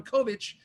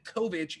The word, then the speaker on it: Kovic: as anti-war activist Ron Kovic in what 1989 film? That's K-O-V-I-C, if I'm mispronouncing it. Pretty sure it's Kovic, though.